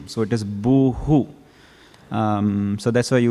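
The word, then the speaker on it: भूः: ground generally in samskritam when you have a word ending with a with a dot in the bottom it reverberates the previous letter so in this case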